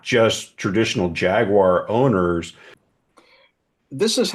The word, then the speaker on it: Jaguar: the rebranding is finally teaching us poor bited Yanks how to pronounce it properly it's Jaguar um the problem is